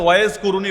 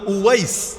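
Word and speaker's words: أويس: আল কারানীকে চেনেন কে বাংলায় হয়তো ওয়াজ কুরুনি বলেন আর কি আপনারা এটা ভুল উচ্চারণ ওয়াজ কুরুনি নামে কেউ নাই ওয়েজ মানে তো বক্তা ওয়াজ মানে বক্তা এখন উনার নাম কি বক্তা ছিল নাকি বক্তা কারো নাম হয় না উনার নাম হল ওয়াইস ওয়াইস আল কারানি কারান হল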